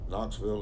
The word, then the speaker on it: Knoxville: 878 thousand trivia alert knoxville is the largest city united states with a silent first letter it's a nice day